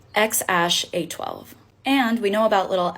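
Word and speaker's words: X Æ A-12: his name really made headlines and it is pronounced X Ash a12 and we know about little X for short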